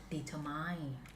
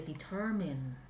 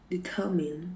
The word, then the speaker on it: determine: we don't we don't we don't say deter mind we say determine determine okay please say it again